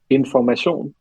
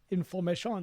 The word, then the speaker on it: Information: Of course, it's kind of like, you have to put a potato into your mouth and then try to say something. So it's Information. Information.